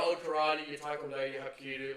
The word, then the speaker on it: Hapkido: But your old karate, your taekwondo, your hapkido, like that sort of Hapkido? Korean, yeah, it's Korean, that's how it's actually Oh, pronounced.